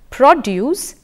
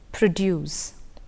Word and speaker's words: produce: non predictable sometimes predictable stress distinguishes some nouns from verbs if you take the example produce versus produce the produce this year was very low the cow produces 10 litres of milk in the first sentence the use of the word was a noun it was a noun and therefore the stress was on the initial syllable in the second sentence